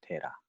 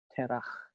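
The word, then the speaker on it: תרח: 데라. 우리말 성경에는 데라 이렇게 적혀 있습니다. 네, 히브리 발음으로는 테라 이렇게 읽고요.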